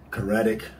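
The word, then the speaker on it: Karadžić: the bosnian serb leader rather than keratic that's how you pronounce his name they put the sudanese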